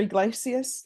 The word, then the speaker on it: Iglesias: Iglesias? Yes, ma'am. Am I pronouncing your last name correctly?